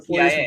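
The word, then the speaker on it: Sy: And Omar, I believe it's pronounced C. But Omar C.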